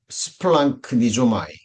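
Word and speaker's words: σπλαγχνίζομαι: 자, 스파 스플랑크니조마이 이렇게 발음이 됩니다.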